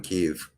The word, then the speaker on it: Kyiv: I pronounced it Kiev for so long, it's hard to get in the habit of saying Kyiv.